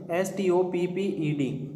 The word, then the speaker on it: stopped: यहाँ पर देखिए पी के बाद में ED, इसका उच्चारण टे होगा, डे नहीं होगा। STOPPED, जब भी कै से च पे के बाद ED आवे तो ED का उच्चारण टे हो जाता है।